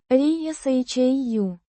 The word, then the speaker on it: Решаю: Pronounced. ri-sha-yu.